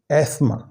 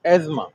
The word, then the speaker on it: asthma: Correct pronunciation of this word is एस्मा। ये आप देखें लफ्ज़ है एस्मा। asthma, asthma, British English में एस्मा asthma, asthma, और अमेरिकन इंग्लिश में एज़मा।